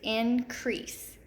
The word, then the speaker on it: increase: We've got a silent E at the end of our word, but we also have that EA pattern right here in the middle.